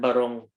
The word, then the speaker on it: barong: It's barong, right? Arvin, barong Yeah, Tagalog.